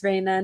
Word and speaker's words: Rayna: pronouncing it correctly raina yes you are pronouncing it right it's raina nice to meet you